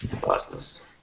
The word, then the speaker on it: business: Business. Business, someone might say. But bees, it sounds like bees. Bees. Insects. Business, like a bee.